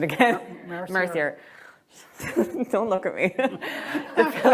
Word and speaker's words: Mercier: I am getting reports that the Philippa Ryder book is by I'm going to have to ask for pronunciation again. Mercier.